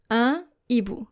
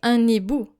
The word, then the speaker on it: un hibou: This means that we do not pronounce the liaison anymore. If you have, for example, two words, un and then hibou, an owl, un hibou. You don't say un hibou because our H is a consonant.